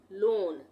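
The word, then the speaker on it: loan: ए हो गया तो ओ ए को हम ओ ही पढ़ेंगे यहां पर भी जैसे एल ओ ए एन लोन यहां पे ओ ए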